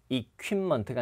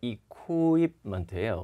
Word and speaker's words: equipment: 그 다음에 장비 이런 거 할 때도 equipment가 아니라 equipment예요.